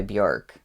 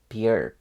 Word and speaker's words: Björk: her name right because I think it's not Björk. It's like Björk, more like an I sound, but I could still be saying it wrong. I just know that it's not like Bjork.